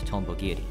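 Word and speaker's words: 蜻蛉切: However, the Japanese translators for Terraria, Spike Chunsoft, decide to write the name in katakana, still pronounced Tombo Giri.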